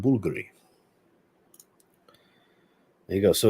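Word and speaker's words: Bvlgari: house is Tiger that's Bulgari bv-l-g-a-r-i Bulgari it's pronounced Bulgari there you go so it's actually a v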